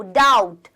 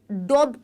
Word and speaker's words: doubt: ओ यू बी टी तो इसको आप डॉट नहीं पढ़ेंगे बहुत से बच्चे पढ़ने हैं यहां पर जो बी होता है वो क्या होता है साइलेंट होता है बी जो होगा यहां पर वो साइलेंट होगा आप इसे क्या पढ़ेंगे क्या बोलेंगे डाउट डाउट आप इसे बोलेंगे डाउट मतलब कोई भी शक